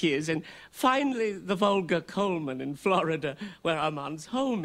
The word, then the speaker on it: Goldman: Goldman. I thought the D was silent. It is pronounced Coleman, isn't it?